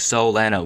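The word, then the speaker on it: Soleanna: young girl like that soleiana is the Hub world for the game and has always said daytime despite how prior cut scenes may play out phonetically spoken the town sounds like Soul Anna which probably could be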